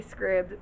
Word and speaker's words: Scribd: scribed and or Scribd some of you guys like to say scribbs but when you're a scriber like a transcriber that's what it looks like to me so that's why I say it like that but tomato tomahto honey